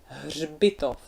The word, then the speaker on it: hřbitov: and cemetery in Czech, hřbitov. So here again appears this ž. Is it your favorite one as well? And it's surrounded by consonants, so the pronunciation is even harder than usually.